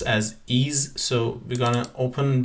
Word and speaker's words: EES: the Engineering Equation Solver Al also known as ease it pronounced as ease so we're going to open the e software